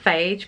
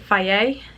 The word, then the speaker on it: Fage: And the yogurt bowl, I've been using the, I always want to call it Fage because it's F-A-G-E, but I think you pronounce it Faye yogurt.